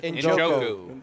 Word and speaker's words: Njoku: He is how you pronounce that last name? Njoku.